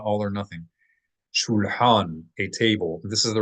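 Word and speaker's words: שולחן: Shulhan, a table. This is the regular word for table in modern Hebrew as well. Shulhan or shulchan in pop pronunciation, shulchan, like Shulchan Aruch.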